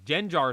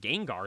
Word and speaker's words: Gengar: some other Crazy Ones he says to jenar is the the one that stands out to me because I'm like Gengar is like one of